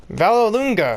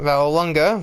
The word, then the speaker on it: Vallelunga: Vallelunga, as I've found out it's pronounced, not Vallelunga.